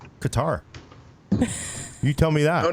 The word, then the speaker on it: Qatar: You're watching the news, they're talking about Qatar. It's like, what? There's no C. It's a Q. Even people from Qatar pronounce it Qatar, but they probably, who knows?